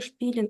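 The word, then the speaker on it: spielen: змінюємо Як бачите ви шпілен о прекрасно бачите шп ілен ви пам'ятаєте що СК перед п і ти на початку слова читається як ш прекрасно тепер у нас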